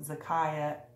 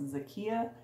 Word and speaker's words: Zakia: So last video I had mentioned that I had got this pattern from Zakaya, and it's actually pronounced Zakia. So I did talk to her and just wanted to clear that. I pronounced it wrong and I apologize.